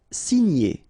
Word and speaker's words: signer: Signer, okay? G and N together, gn. Signer, signer.